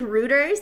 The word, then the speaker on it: Reuters: I always pronounce it like Rooters, like Hooter, like it rhymes with Hooters.